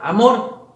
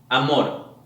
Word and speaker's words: amor: amor en primer lugar lo que debemos hacer es pronunciar la palabra de una manera normal amor vemos dónde tiene la mayor fuerza de voz un pequeño truco es exagerar un poquito cada pronunciación en cada sílaba para así identificar cómo suena mejor por ejemplo si ponemos la fuerza de voz en la primera sílaba tendríamos a mor no suena bien verdad pero si lo